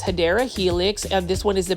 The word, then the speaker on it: Hedera helix: a beautiful Hedera helix, or what you call, the correct way to say it is Hedera helix.